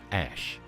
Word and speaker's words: Æ: Rogan Experience stated that AE was pronounced as ash and that the A12 was his personal addition to the name.